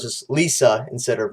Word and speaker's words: LiSA: name is the same it's literally just saying her name but with l and saying it in a western way so it's just lisa instead of risa so that's how she